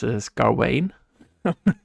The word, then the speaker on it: Gawain: But Yeah, you can say Gawain or Gawain. I've heard both before.